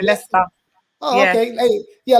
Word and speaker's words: Leicester: We pronounce it Leicester.